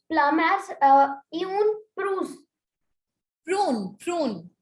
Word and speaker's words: prune: Ma'am, we will pronounce plum as une prune.